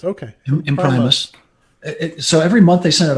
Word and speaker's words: Imprimis: College or imprimis um in Primus is how you say it okay in Primus so every month they